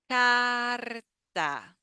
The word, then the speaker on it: carta: The next word we have carta. Carta. So these are that we have here. Carta. It's the like the R that we make in order. The last R.